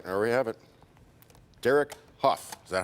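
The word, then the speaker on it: Derek Hough: Derek Huff, is that how you say it?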